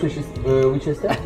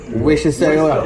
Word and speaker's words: Worcestershire: Excusez-moi, est-ce que vous avez la sauce Winchester? Faut que tu le prononces bien. Worcestershire.